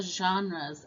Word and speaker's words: genre: read and we're going to talk about the genres of fiction it is spelled g-e-n-r-e-s pronounced genre what is a genre